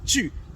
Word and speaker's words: tu: That's the correct pronunciation of the word tu. So it is tu.